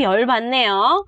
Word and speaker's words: 열받네요: Lưu ý cái phát âm là bạch cộng với nèo, chữ bạch này nè, và chim đó là chữ tờ, cộng nèo là chữ nờ, tức là ma nữ đó, âm mũi trong tiếng Hàn.